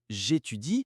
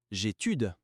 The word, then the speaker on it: j'étudie: ''j'étudie'' (ich studiere), nicht ''j'étude'' (ich studiere). Ja, man muss die beiden ''i'' gut aussprechen, ''j'étudie'', ''tu étudies'', ''il étudie''. Das sind zwei Silben, nicht nur eine.